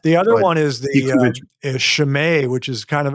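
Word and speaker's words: Chimay: even know what that is what is it it's spelled c-h-i-m-a-y shame yeah it's a brand it could be a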